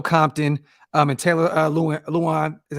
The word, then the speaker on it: Lewan: boys with Will Compton um and Taylor uh Luan is how you say his name um and